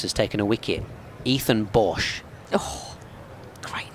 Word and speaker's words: Bosch: player for Essex has taken a wicket Ethan Bosch oh great name Bosch uh it's spelled very South African way though b o